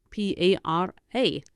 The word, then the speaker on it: para: for me is me p a r a again the a is always an a para me for me and